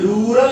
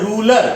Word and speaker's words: rural: So one is rural area, one is urban area. One is rural area. Number one is number one rural. We pronounce the word ruler.